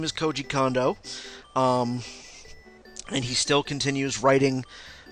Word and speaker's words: Koji Kondo: Well, you got the first one right, Koji Kondo. That would be the correct pronunciation.